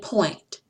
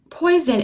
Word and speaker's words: poison: Poison, join, coin, and point. Poison is actually two syllables, and you're going to hear the diphthong in the first syllable, poi.